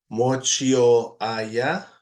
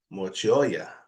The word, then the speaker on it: mochioya: So instead of mochio aya, it would be mochioya, mochioya.